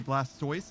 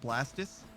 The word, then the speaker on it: Blastoise: uh isn't it there's Blastoise which is a tortoise but we say Blastoise and not blastus because blast just sounds stupid we all agree that